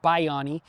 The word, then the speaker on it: Bayani: It's actually pronounced Bayani, but we call him Bayani and it means hero.